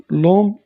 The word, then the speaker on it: l'homme: E, l'homme quittera l'hôpital bientôt. L'homme, on ne prononce pas H, c'est un H muet.